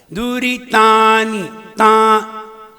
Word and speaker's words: दुरितानि: दुरितानि ता के ऊपर अनुस्वार नहीं है, और तुम ता पे ना मिला रहे हो। दुरितानि ता कहाँ है? दुरितानि तानी तानी, हाँ तानी नहीं है।